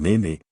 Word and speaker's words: Nene: El Yare es un río de Norfolk que desemboca en el mar en Yarmes, y el Nene, que se pronuncia también con una vocal corta, desemboca en el Oise.